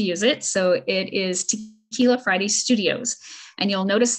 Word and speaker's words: Tekeyla: have permission to use it so it is tequila Friday Studios and you'll notice that tequila under the Red X is spelled differently because that's how my name is